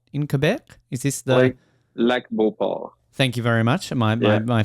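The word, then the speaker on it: Lac-Beauport: I want to please correct my pronunciation here. Is it La Beauport in Quebec? Is this the Lac Beauport?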